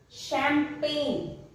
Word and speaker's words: champagne: In French, CH is pronounced as sh. Sh. Chocolat. Champagne.